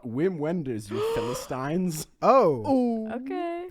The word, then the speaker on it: Wim Wenders: It's pronounced Wim Wenders, not Wim Wenders, you Philistines.